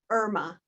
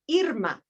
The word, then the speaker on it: Irma: When people see the spelling of my name, many think Irma, and that is one pronunciation of this name. But the name my parents gave me is Irma.